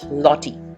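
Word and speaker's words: złoty: and there currency is लॉटी ज silent Russia a person who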